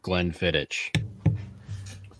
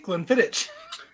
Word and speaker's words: Glenfiddich: See, Glenfiddich. It's not itch. Not an itch. ICH, bitch. It's ick. Ick.